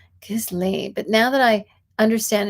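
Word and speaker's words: Ghislaine: transcript of an interview with Jeffrey Epstein's accomplice, Gizlane.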